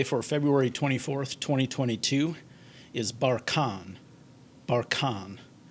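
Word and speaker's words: barchan: of the day for february 24th 2022 is bar khan bar khan it's a noun and it means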